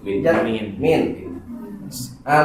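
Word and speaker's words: مِن: Ada lagi huruf min. Ah lihat ee tolong perhatikan min itu bisa dibaca min bisa dibaca mina. Tergantung di depannya pakai alif lam atau tidak. Kalau depannya pakai alif lam dibacanya mina.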